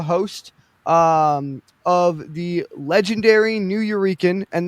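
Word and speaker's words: Nuyorican: Um he is the host um of the legendary New Eurekan and that is a combination of New Yorker and Puerto Rican. Um it is pronounced New Euran.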